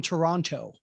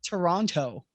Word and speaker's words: Toronto: doesn't make sense but we don't pronounce that last t it is spelled toronto yeah on our station